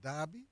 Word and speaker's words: Derby: Anybody, if you're going to send me an email, note, my name is pronounced Darby, but spelled Derby.